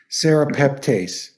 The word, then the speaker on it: serrapeptase: to put it in the chat here um it's spelled s-e-r a p e p t a s t Sarah peptase so you could ask your kinesiologist another one